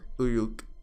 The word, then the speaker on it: Uruk: The temple matron of Uruk, I looked it up, apparently that is how you say it, made the situation clear.